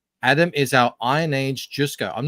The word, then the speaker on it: Jusko: Adam is our Iron Age Jusko. I'm not familiar with. Is that how you pronounce that? Jusko, yeah, Joe Jusko.